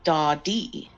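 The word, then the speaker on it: Dadee: First of all, my name is not Daddy. It is pronounced Dawdy.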